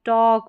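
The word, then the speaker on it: talk: कि चॉक, salt, stock, टॉक और वॉक, यहाँ पर इन सारे स्पेलिंग्स में ए के बाद में जो एल आ रहा है वो साइलेंट है और ए का उच्चारण ऑ है।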